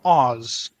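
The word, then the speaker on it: az: Hungarian except it's reversed in Hungarian we have two forms of the it's either ah or Oz if it's ah the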